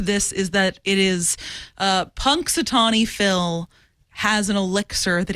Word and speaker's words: Punxsutawney Phil: How do you pronounce the full name of Phil Punxsutawney.